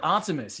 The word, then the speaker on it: Artemis: Content Artemis. Yeah, exactly. Artemis.